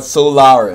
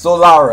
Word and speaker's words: Solara: and that one exploit is called Solara or solo Hol I know what I say what is it called Solara I said it right the first time I don't know why